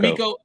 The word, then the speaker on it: DeMeco: Or DeMarco? D'Amico.